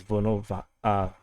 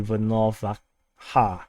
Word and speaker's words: Volnovakha: So actually it's not pronounced as Volnovakha, Volnovakha, but it's actually Volnovakha.